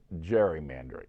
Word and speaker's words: gerrymandering: up with gerrymandering but they ended up pronouncing it gerrymandering with the soft g so that's how the